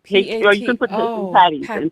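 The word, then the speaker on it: pâté: party okay what did you call it come spell it for me pepe p a yeah p-a-t-e patty okay haitian let's see what we have oh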